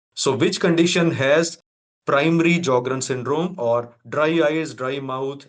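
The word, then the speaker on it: Sjögren syndrome: patient is join syndrome S is silent in these patients so we call it as jogrren syndrome and dry eyes are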